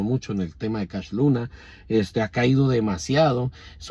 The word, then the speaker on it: Cash Luna: Luna o Cash Luna que él no se dice Cash Luna porque sea Cash de Money sino que se dice Cash porque cuando era niño él no podía pronunciar su nombre y entonces cuando le preguntaban Cómo te llamas él siempre decía casl Luna Cash los Luna Cash los luna y entonces sus contemporáneos empezaron a decirle Cash cashito cashito y le